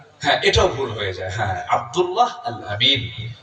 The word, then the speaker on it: আব্দুল্লাহ আল আমিন: ধরছিলাম আপনার নামটা শুদ্ধ করে বলেন পারে নাই আব্দুল্লাহ আল আমিন আমার নামটা বলতেন আব্দুল্লাহ আল আলামিন আব্দুল্লাহ আলামিন এানে ভুল হয়ে যায় এই উচ্চারণটা খুব কঠিন আপনার এটাও ভুল হয়ে যায় হ্যা আব্দুল্লাহ আল আমিন তো আমার মানে মিতা আমার নামে নাম আল্লাহ